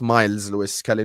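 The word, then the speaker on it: Myles Lewis-Skelly: Now I know it's Miles Lewis Skelly, not Martin.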